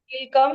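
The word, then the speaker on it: कीलकम्: कीलम क्यों नहीं है ये किलकम हिंदी में संस्कृत में किल लकम ल का उच्चारण पूर्ण क का उच्चारण पूर्ण किल की किलकम की ल कम कीलकम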